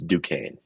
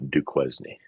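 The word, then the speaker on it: Duquesne: It's Dukane. And [sighs and clears throat] you pronounced it correctly. Good job, Joey. It's not Dquznney.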